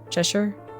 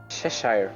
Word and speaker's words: Cheshire: Cheshire. Am I saying it right? Cheshure. Cheshire. Cheshure. Cheshire.